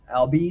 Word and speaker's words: Albies: Albies, is that how you say his name?